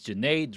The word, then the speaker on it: Junaid: So my name is Junaid, rhymes with lemonade, and I am a